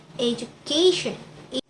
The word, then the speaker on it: education: The sufficien attracts stress to the syllable immediately before it. So it can be pronounced education.